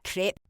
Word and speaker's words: crepe: It's pronounced crepe.